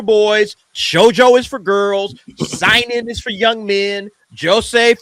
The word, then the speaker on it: Seinen: Sorry, Seinen.